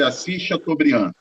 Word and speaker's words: Assis Chateaubriand: todos o nome desse empresário é assis chateaubriand pronuncia-se assis chateaubriand ok vai lavar isso continua dando nos diários